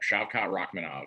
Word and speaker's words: Shavkat Rakhmonov: Yep, Shavkat Rakhmonov.